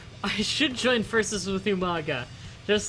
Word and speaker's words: Umaga: I should join versus with Umaga just like uh Regal did. And Regal never pronounced his name right. Every single time Regal would call him manga.